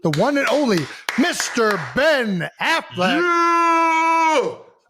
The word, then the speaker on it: Affleck: I mean, it's definitely ECK, but I feel like everybody pronounces it Ben Affleck.